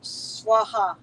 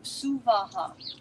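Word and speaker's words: स्वाहा: is actually not correct the pronunciation you will hear swaha a lot like on different recordings and different this and this no sua three separate distinct syllables so we've written that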